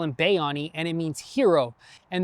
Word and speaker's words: Bayani: It's actually pronounced Bayani, but we call him Bayani and it means hero.